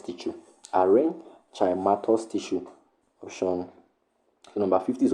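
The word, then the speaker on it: aerenchymatous: A e r e n c h y m a t o u s archimatus tissue. Arin chimatus tissue.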